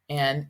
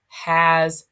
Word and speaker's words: ha: as a OS an remember H's are silent in Spanish all right just like